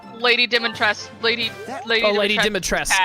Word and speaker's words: Dimitrescu: Lady Dimitrescu. It's just Dimitrescu, I think. Oh, it is Dimitrescu. She has a cool hat. Yeah, I'm pretty sure the U is silent.